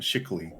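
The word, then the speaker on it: Schickele: Shickily, okay. And yeah, it's got a pronunciation guide on it. Shickly.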